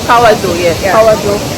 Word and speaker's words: Kawazu: name, but we can't pronounce it. Kawazu. Kawazu, yes.